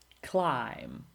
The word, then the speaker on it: climb: Silent B. Bomb, climb, or debt or doubt, or comb or tomb.